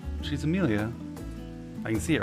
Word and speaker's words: Amelia: The name butchered? No, it's not. She's Amelia.